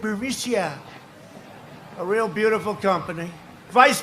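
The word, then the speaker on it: Burisma: the burmesa executives so this uh buremicia bermucia they say pronounce it berisia a real beautiful company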